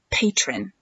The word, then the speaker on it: Patreon: It's called Patreon, or it's spelled kind of French, like Patreon. Patreon, Patreon.